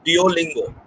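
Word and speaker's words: Duolingo: a billing go or you can pronounce it as do lingo which is an online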